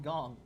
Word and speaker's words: Gong: Also, I noticed his name has been pronounced differently by characters in the game. Some people call him Gang, and some people call him Gong.